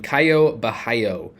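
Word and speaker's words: Caio Borralho: moving on to tournaments I'm going to mention Kaio bahayo at 9k yes that is how you pronounce his name he is minus 210 to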